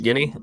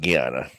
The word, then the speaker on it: Guiana: You're trying to say French Guinea? I'm pretty sure it's pronounced Guiana.